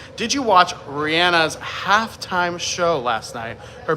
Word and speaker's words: Rihanna: Um I'm saying Rihanna because I saw an interview with her where she said that that is how you pronounce her name.